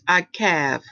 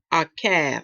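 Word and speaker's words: עָקַב: And it's pronounced as Akav. Akav, okay?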